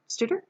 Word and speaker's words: Stouder: Stouder?